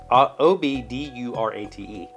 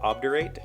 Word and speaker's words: obdurate: and American poet obder ob-d-u-r-a-t-e I would have pronounced that obderate but the key says obdurate makes sense I guess